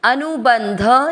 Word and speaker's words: अनुबंध: सहित समझेंगे पहला चरण अनु ब के साथ आधान बंध अनुबंध शब्द पुराने के बाद ध पे अनुस्वार आधा म अनुबंध क्षयम क्ष का अर्थ